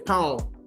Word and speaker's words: pão: Like when we talk about bread, we say pão or pio, okay? Where we hear that nasal sound, it comes through the nose.